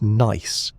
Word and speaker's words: gneiss: And granite, when altered, can become gneiss, pronounced nice, with its characteristic bands of light and dark minerals arranged like layers in a cake.